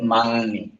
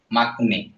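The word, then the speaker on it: 막내: এখন যদি আমি গিয়কটাকে ইয়ং হিসেবে উচ্চারণ করি তাহলে এটা কি হয়, মাংনে, এটা মাংনে। কিন্তু এটা রিয়েল উচ্চারণ হওয়ার কথা কি ছিল, মাকনে। মাকনে না হয় এটা মাংনে কেন হলো, গিয়ক বাচ্চিম এরপরে দেখতেছি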